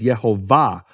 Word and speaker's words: Yehovah: And more importantly, where is the emphasis of the word? The emphasis of the word is in the final syllable. It's marked that way in all Hebrew manuscripts with vowels. No question about it. All the Hebrew manuscripts with vowels mark it as Yehovah.